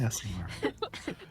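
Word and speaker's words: Aasimar: Asimar, right? Yeah, I just Okay. don't want to say it wrong, because it sounds naughty. You'll get a pass. Okay. Like assassin. Be proud of that ass. Asimar.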